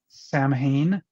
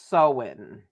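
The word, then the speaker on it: Samhain: um the one I the word I know I'm very familiar with is Sam Hayne s-a-m-h-i-n which I think is actually pronounced so in oh goodness okay if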